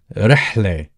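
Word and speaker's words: رحلة: So the R is the equivalent of the Spanish or Italian R. It's basically an Arabic R. So rihle. And the letter ha is a uvular letter, is pronounced from the back of your throat.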